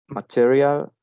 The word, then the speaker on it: material: Material, it has 3 syllables, and the stress one is material.